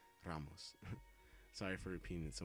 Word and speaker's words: Ramos: Ramos Ramos sorry um I'm Mexican so I roll my RS I want to say it correctly because I seear some people say Ramos but it's like it's Ramos Ramos Ramos I think I'm saying it correctly Ramos sorry for repeating